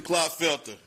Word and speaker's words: Clotfelter: Clotfelter? Doing pretty good. How are you? I'm well. Did I pronounce that correctly? Yes, sir, you did.